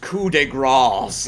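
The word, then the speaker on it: coup de grâce: Oh, pronounced coup de grace, it says, to a helpless opponent.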